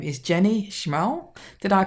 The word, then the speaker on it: Schmal: Her name is Jenny Schmal. Did I pronounce that right, Jenny?